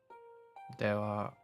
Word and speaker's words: では: では So this character here is, or kana rather, is a bit weird because it's the ha kana, but very often it's pronounced as wa instead.